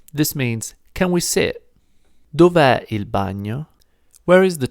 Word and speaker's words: dov'è: of this one, and we put an apostrophe instead to remind ourselves that there should be a letter there, but we don't pronounce it and we don't write it either.